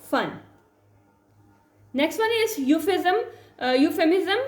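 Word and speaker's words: euphemism: Next one इज यूफेमिज्म। यहाँ पे E आपका साइलेंट है तो आपने बाकी की जो है साउंड निकालनी है, जो कि होगी आपके पास यूफेमिज्म।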